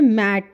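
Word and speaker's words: mate: मैट बोल रहे हैं लेकिन जब ये ई लगा दिया हम लेटर का नाम बोलेंगे मेट और ई की कोई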